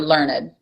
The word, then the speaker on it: learned: They get the title of learned, or learned, which is the traditional pronunciation of it.